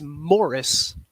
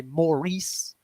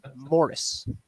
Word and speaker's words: Morris: real quick it is Morris I don't know why I'm going places and they're calling me Maurice I know that that's a way to pronounce the name but it is Morris Morris there you